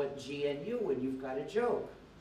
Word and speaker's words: GNU: pronounce the name correctly do not follow the dictionary when it's the name of our operating system do not pronounce it new because if you say